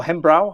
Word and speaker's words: Hembro: Or Hembrow, how do you pronounce? Hembro. Yeah. Yeah. Hembro better, I agree.